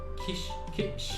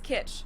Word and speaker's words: kitsch: So you could say, his home is full of 1950s kitsch. It means the same thing in German and in English, and it's also pronounced the same.